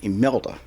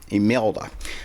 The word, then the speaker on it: Imelda: Imelda. I'm looking at the Hurricane Center pronunciation. Imelda with an I.